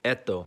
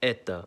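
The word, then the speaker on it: это: You think it would sound like eto, but it's pronounced as eta.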